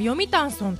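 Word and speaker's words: 読谷村: 読谷ソングと書くんですけれども、読谷村と読みます。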